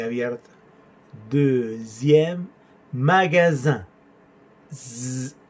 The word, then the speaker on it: magasin: Deuxième magasin. Zzz. Sonido S entre dos vocales y sonido nasal. Un.